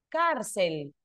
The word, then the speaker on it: cárcel: Cárcel, por ejemplo. ¿Dónde está el acento? en la penúltima sílaba, ¿de acuerdo?